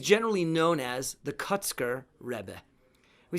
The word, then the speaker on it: Rebbe: It means that they're pronouncing it that way on purpose, because that's sort of a Hasidic pronunciation of rabbi.